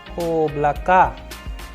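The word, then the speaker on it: облака: A sample Russian word which we have so that we can master the sound of letter O as in oblaka.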